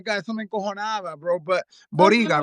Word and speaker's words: Boryga: But Boryga, right? That's how you pronounce Yeah, it.